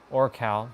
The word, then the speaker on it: Orcal: We got Oracle. Orcal, that's how you say his name.